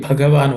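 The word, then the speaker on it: भगवान: Sri Bhagavan Vacha, the Bha is aspirated. Pay attention to that.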